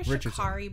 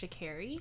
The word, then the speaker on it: Sha'Carri: I called her Sha'carri, but I think it's actually pronounced Sha'carri.